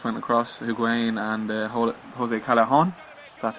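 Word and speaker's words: Callejón: They've got the 2 ex-Real Madrid players who just went across, Higuain and Jose Callejon.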